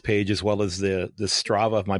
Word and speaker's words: Strava: RFS page, as well as the Strava. Am I pronouncing that correctly? The Strava Excellent.